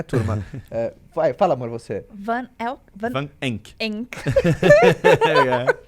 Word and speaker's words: Van Enck: Van Enck. Enck. Em alemão pronuncia-se Van Enck, apesar de ser um sobrenome alemão.